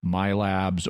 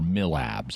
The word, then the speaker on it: MILABs: military abductions, which is often abbreviated to either MILABs or MILABs. It's pronounced both ways.